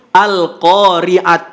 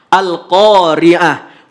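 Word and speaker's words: القارعة: Ketika wakaf kita nggak boleh sebut Al-Qari'at. Nggak boleh. Tapi walaupun dia huruf tamar butoh, maka ketika wakaf bunyi yang keluar adalah huruf H. Al-Qari'ah.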